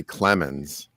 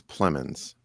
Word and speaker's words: Plemons: Jesse Plemons. Is it Jesse Plemons? Plemons, yeah, like I want to say Clemens. Yeah, but it's Plemons.